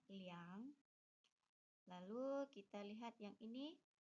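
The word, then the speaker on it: 两: Kembali lagi kalau untuk uang angka 2 itu disebutnya liang. Lalu kita lihat yang ini 0,22 menjadi liang mau er. Kenapa disebutnya er tidak liang?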